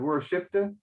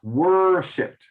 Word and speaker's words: worshipped: So instead of worshipped, it's worshipped. Okay, so often the emphasis in English is closer to the beginning.